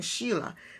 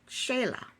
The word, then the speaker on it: Shayla: she pronounced her name I was saying Sheila but she said Shayla so David is on